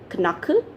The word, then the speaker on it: knuckle: word is k-n-u-c-k-l-e now how do we pronounce pronounce it we pronounce it as knuckle no it's knuckle okay so we pronounce